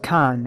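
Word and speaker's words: 簡: of this here symbol it is pronounced con and means simplicity it is made up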